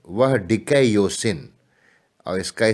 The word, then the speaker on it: dikaiosyne: न्याय के लिए रिपब्लिक में जिस लैटिन शब्द का प्रयोग करते हैं वह डिकैयोसिन, और इसका स्पेलिंग देखेंगे तो ऐसे बनेगा DIKAIOSYNE, डिकैयोसिन है, जिसका अनुवाद अंग्रेजी में जस्टिस के बजाय